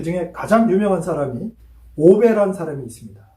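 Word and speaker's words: 鰲拜: 그 중에 가장 유명한 사람이 오베란 사람이 있습니다. 중국 발음으로는 아오빠인데요. 한자 발음으로 하면 오베입니다.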